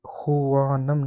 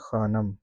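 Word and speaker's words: خوانم: तो इसकी भी मैं वज़ाहत पहले ही कर दूँ कि ये जो वाव है ये खुवानम नहीं है, इसको साइलेंट करके हम पढ़ते हैं ख़ानम, ठीक है?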